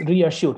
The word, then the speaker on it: reassure: Okay, so the way we need to pronounce is like this. Okay, re and then hyphen and then assure, like this. This is how we need to, yeah, reassure, assure, reassure.